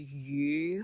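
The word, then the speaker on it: 余: So yu actually means remainder. Okay, it's surplus. So like it means like you always have more than enough. So that's what it says. But yu phonetically sounds like fish.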